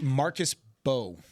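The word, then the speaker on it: Marcus Mbow: Marcus Bow. It's spelled M''BOW, but apparently the first M is silent.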